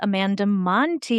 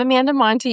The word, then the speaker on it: Montei: I'm Stephanie O'Connell and I'm here with Amanda Monty. Amanda, first introduce yourself. Yes, I'm Amanda Monty. You pronounced my name right, which is amazing because it doesn't always happen.